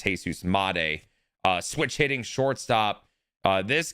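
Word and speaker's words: Jesús Montero: I I I I can't stand the fact of how we were pronouncing it on the stream. It's Jesus Montero.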